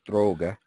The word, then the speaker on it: Droge: and researcher out of Heidelberg, Germany, Professor Wolf Droge. That's the way you pronounce it in German.